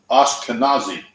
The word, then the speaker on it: Ashkenazi: this is Sephardic right and this is Ashkenazi Ashkenazi thank you sir did that work that's it